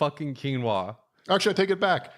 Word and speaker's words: quinoa: you know keep keep eating that quinoa buddy quinoa is it am I saying it right yes